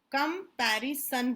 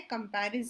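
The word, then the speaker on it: comparison: डालना बीच में कि कंपेरिसन होता है बच्चा कम का निरीक्षण नहीं होता टो दुनिया जो please don't take life seriously कंपेरिसन होता है कंपेरिजन सियोन नहीं होता है स्पेलिंग पर डाल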